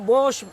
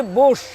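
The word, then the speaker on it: Bose: এখন দেখাচ্ছি বোস। এটা আচ্ছা। অনেকে বস বলে, বোস বলে, কিন্তু অরিজিনাল শব্দটা বোস।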